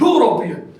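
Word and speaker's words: European: बच्चों वो है यूरोपियन अगर आप इसकी प्रंस करेंगे दिस इज यूरोपियन यूरोपियन वई की आवाज निकलती है मेरे बच्चों हालांकि स्टार तो वोल लेटर से है लेकिन आवाज जो है किसकी निकालता है कंसोनेंट की देता है तो मेरे बच्चों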